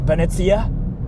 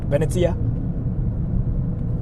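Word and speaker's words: ベネチア: right it's freaking hilarious in Japanese that place is called uh beneta like that's how we freaking like pronounce it beneta I sometimes get confused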